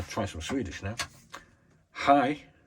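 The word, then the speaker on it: hej: Hi, Sverige. That is hello, Sweden. Hi is spelled H-E-J.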